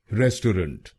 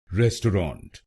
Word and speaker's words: restaurant: चलिए सीखते हैं पहला प्रोनाउंसिएशन, रेस्टोरेंट। रेस्टोरेंट इस शब्द में तीन शब्दांश हैं। पहला है RES, दूसरा TAU और आखिरी RANT। पहले शब्दांश को यानी RES हम बोलेंगे रेस, दूसरे शब्दांश को यानी